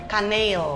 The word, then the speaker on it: Kaneel: Kanel itu bahasa Belanda. Oh, Belanda. Iya, jadi Kaneel. Itu kalau bahasa Belanda E double itu bacanya panjang. Kanel.